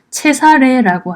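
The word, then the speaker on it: Cesare: 짜르도 그 시저입니다 마지막으로 이탈리아에서는 카이사를 어떻게 발음하냐면 체사례라고 합니다 제사래 이렇게 하여튼 다양하게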